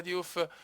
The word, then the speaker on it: Diouf: Diouf, la pronuncia Diouf, Diouf, Diouf!